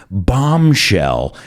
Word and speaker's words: bombshell: out by saying this bombshell and remember that b is silent it's not bomb it's